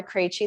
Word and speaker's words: Krejci: My name's Krejci. That's how you pronounce all of those consonants together really close in one little word.